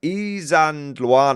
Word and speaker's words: Isandlwana: It's Isandlwana. That's Isandlwana. Has loads of, I can never pronounce it.